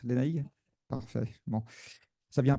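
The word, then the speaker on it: Lénaïg: C'est bien comme ça qu'on prononce, Lénaïque?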